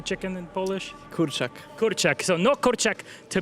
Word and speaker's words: kurczak: Kurczak.